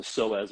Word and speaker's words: psoas: say it wrong again the p is silent it's not like the p and pineapple it's a psoas muscle that's good yeah